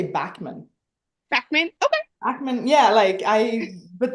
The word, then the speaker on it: Backman: Because I do have in the Swedish, I have two dots over the A, and it's Right. pronounced ä. So in the Swedish, it would be Beckman, but in American or English, it would be just Backman, I think.